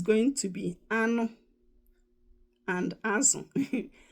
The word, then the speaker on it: azụ: Then azu, that's fish. I'll spell it in English. A-Z-U. That's how you spell it in English. In Igbo, A-Z-O. That's fish. Okay?